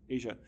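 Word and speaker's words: Aja: A AJ but I believe her first name is pronounced Asia talks about critical race storytelling.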